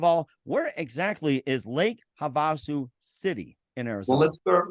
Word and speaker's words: Havasu: where exactly is Lake Havasu City in Arizona let's start with how it's pronounced it's pronounced Havasu Havasu okay got it thanks